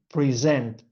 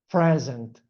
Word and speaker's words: present: So, if I put the stress on the first syllable is present, that it means a gift.